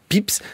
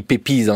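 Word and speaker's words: Pepys: joue le rôle de Samuel pips ça s'écrit pépise si on voulait prononcer à la française Alan potovski qui est-il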